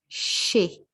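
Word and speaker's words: chez: which is she so this is pronounced she we do not hear the the z sound here it's she okay and we use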